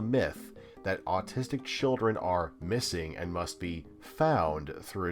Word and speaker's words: MSSNG: play alluding to what mssng or pronounced missing claims is a nod